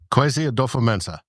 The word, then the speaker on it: Kwesi Adofo-Mensah: Pronounce his name for me. Kwesi Adofo-Mensah. Kwesi Adofo-Mensah.